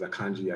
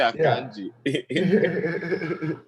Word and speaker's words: Akanji: Pronounced in Nigerian way. Exactly. They say Akanji.